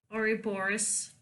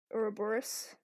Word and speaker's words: Ouroboros: And the Bone Carver will only help if they bring back an artifact to him called I pronounce it Ouroboros. Ouroboros.